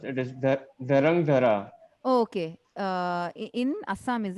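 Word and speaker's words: Dhrangadhra: It is Drangadra. I'm sorry. It is difficult to pronounce. It is Dharangdhara.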